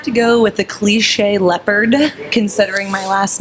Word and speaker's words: Leppert: how to spell it is leopard like the animal but with a t on the end and then they can say leopard pretty simply so because it